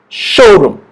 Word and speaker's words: showroom: Showroom. Okay, the stress is on the word show right here. Showroom.